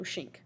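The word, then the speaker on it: Schenck: in shape he put you pronounce this like the word sink like the kitchen sink but with an S so shink all right I'm not shrink like you you know shank somebody that's rude alright so the background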